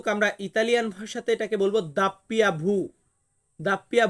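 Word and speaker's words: doppia vu: আছে ডাব্লিউ আমরা ডাব্লিউ বা ডাবল ইউ এমনটা উচ্চারণ আসবে কিন্তু আমরা ইতালিয়ান ভাষাতে এটাকে বলব দাপ্পিয়া ভু দাপ্পিয়া ভু বা কিছু ক্ষেত্রে দাপ্পিয়া ভি আসবে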